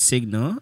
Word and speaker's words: SIGNL: you should check out Signal. It's spelled as SIGNL. SIGNL. And L. On Twitter, we're SIGNL Labs. Nice. So do you check it out? SNL, SNLG. SIGNL Labs. So it's Signal without the A.